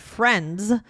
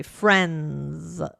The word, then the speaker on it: friends: that end in NS, we often will drop the D sound. So, for example, instead of the word friends, right, we might say friends. Friends, instead of friends. Exactly. Friends. Friends. We're not saying the D at all.